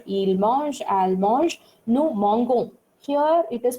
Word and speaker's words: mangeons: Now, if you see this verb conjugation, je mange, tu manges, il mange, elle mange, nous mangeons. Here it is pronounced as nous mangeons.